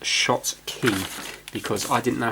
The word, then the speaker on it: Schottky: how to pronounce it it should be pronounced shots key because I didn't know how to pronounce it before yeah I was like Scott's key or something I'm not